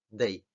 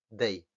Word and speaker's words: day: Un español esta palabra normalmente la pronunciaría day, day. Pero no, es que la D en inglés es más marcada.